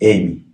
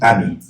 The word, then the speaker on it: Ami: And my second daughter is Amy. Amy. Actually, it's Ami. Ami. We write AMY. Right. In Senegal, that's called Ami. Ami. But because English, It's they pronounce Amy.